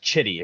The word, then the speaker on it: Chitty: man named Harry chitty and yes chitty his name is is spelled c hii TI chitty um he was